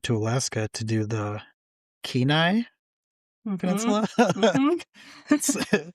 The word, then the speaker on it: Kenai: And I also want to go back up to Alaska to do the Kenai Mm-hmm. Peninsula. Mm-hmm. It sounds like Kenai, looks like Kenai, but it's Kenai.